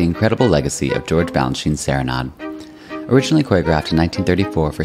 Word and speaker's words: Serenade: years and why we should really all be pronouncing it Serenade foreign thank you so much for joining us